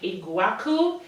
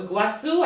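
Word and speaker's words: Iguaçu: It is a NARS Soft Matte Complete Foundation, and I got this in the shade Iguacu, or Iguacu, I think that's a soft C.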